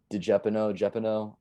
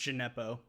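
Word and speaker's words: Djenepo: Jeopardy, pardon me if I'm pronouncing that wrong, missed a it's just Gineppo, but yeah.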